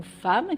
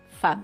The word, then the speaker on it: femme: par exemple le mot femme qui s'écrit en français f e 2 m e. Si on le décode, on lit fem. Mais en fait, il faut apprendre que ce mot se dit femme.